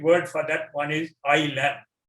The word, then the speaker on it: ylem: And the scientific word for that one is ILM. ILM is spelled as YLEM.